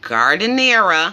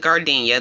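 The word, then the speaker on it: giardiniera: I did add, I never pronounced this correctly, but gardeniera. I always call it gardenia. That's completely wrong, but yeah, that's what that is, which is just pickled vegetables.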